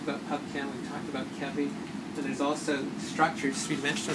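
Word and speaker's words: ChEBI: So KEBI, it's pronounced KEBI with C-H, about 28,000 compounds.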